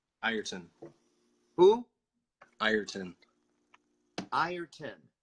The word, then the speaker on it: Ireton: Ireton. Who? Ireton. Ireton. See, it's spelled I-R-E-T-O-N, so it's backwards. Backwards? Well, I'm saying it sounds like there's an I-E-R. I-R-ton. Not, it looks like I-re-ton.